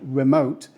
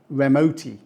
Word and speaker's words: remote: English words for example knowing that the the first syllable in the word remote is open helps students pronounce the word correctly if they didn't they might say remotti once students can recognize